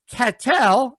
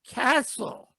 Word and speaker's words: Cathel: it forget me uh cattell i hope i'm saying it right cattell and me am i saying it right paul that's close it's good all right you say it then catho it's a castle yeah castle and me that's it